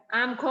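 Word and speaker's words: आँख: means moon ചന്ദ്രൻ പാംജ് palm എന്ന് പറഞ്ഞാൽ അഞ്ച് ആംഖ് എന്ന് പറഞ്ഞാൽ കണ്ണുകളിൽ കണ്ണ് കണ്ണുകളിൽ ആംഖ് പഠിച്ചില്ലേ കണ്ണ് ആംഖോം എന്ന് പറഞ്ഞാൽ കണ്ണുകളിൽ രണ്ട് കണ്ണിനെ ബഹുവചനം ആയിട്ട് വരുന്നത്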